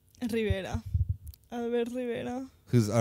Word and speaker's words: Rivera: You need to pronounce it like an American. Rivera.